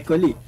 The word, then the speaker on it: colleague: I'd like to introduce my colleague. Yeah. Colleague, yeah? Pronunciation here is, you don't say college or click.